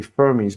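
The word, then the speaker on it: Fermi: talking about probabilities and the answers to the firmy Paradox are why are we landing on the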